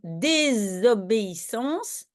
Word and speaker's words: désobéissance: un un exemple comme désobéissance le premier s il y en a un donc on prononce comme un Z dés ok donc on